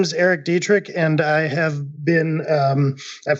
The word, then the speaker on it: Dietrich: this week is Erik Dietrich hello and dietrich dietrich did I now that I've introduced you did